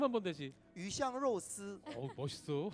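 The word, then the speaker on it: 鱼香肉丝: 붙어 있기 때문에 그런 스촨 음식 중에서 뭐 중국어로 하면 뭐 위샹로스 하는 어향육사, 그게 네네. 발음 한번 다시. 위샹로스.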